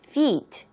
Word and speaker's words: feet: 여기에서 중간중간 발음 체크해야 될 부분이 아마 이 feet 라는 표현입니다. fit 이라고 여러분들 발음하시면 맞다, fit 같이 들리거든요. 그럼 옷이 잘 맞는 fit한 그런 느낌으로 들려질 수가 있으니까 여기는 모음이 두 개가 있으니 여러분들 조금 길게 발음해 주십시오. feet 그렇게 발음해 주시는 것도 꼭 잊지 마세요. fit라고 하면 안 됩니다.